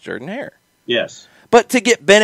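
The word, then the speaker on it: Jordan-Hare Stadium: it wrong yes because auburn pronounces it jordan hair so it should be pronounced jordan hair yes but to get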